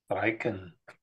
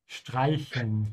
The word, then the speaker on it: Streichen: Streichen. Streichen. Keep your mouth open on the CH.